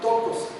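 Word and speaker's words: πτωχός: La palabra que usan para la para describir al pobre aquí es una palabra en griego que se llama tocos. Tocos tiene una p antes la pronunciación que significa encorvarse, encogerse y que expresa una condición de un mendigo, alguien que ya está en destitución total.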